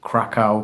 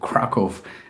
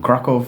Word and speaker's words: Kraków: some people pronounce it Krakow but I Googled it and Krakow is the nearest approximation I can give to the Polish dude in the audio clip um krakov is the second largest